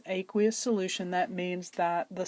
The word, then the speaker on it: aqueous: happens that's called an aqueous that's how you pronounce that it's aqueous solution that means that the solvent for that